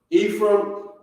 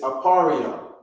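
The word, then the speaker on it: אֶפְרַיִם: ah or the symbol ah okay is ephraim ephraim is how it's pronounced in the english in the hebrew it's aparrio okay so the ah here we have it right here apario apario okay so the r in the beginning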